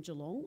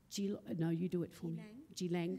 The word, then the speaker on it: Geelong: She's a Wadawurrung woman, and she lives and works on Wadawurrung country here in Geelong, or Geelang, thank you. I'm shocking at pronunciation.